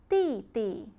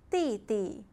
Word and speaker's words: 弟弟: Younger brother, 弟弟, 弟弟. Younger sister, 妹妹, 妹妹. So let's review again. Elder brother, 哥哥, 哥哥. Elder sister, 姐姐, 姐姐. Younger brother, 弟弟, 弟弟.